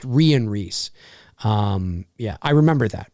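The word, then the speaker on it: Rhian Rees: yeah yeah it's a it's actually it's it's pronounced Rian Rhys um yeah I remember that because we talked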